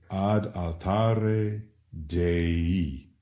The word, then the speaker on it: dei: of the word dei the I pronounced e in Latin is the equivalent of